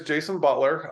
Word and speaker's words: Beutler: The last name is spelled weird. It's got an E in there. We say it's spelled Beutler. I've asked Grandpa where the E came from. He has no idea. So we think we're German, but we don't really know.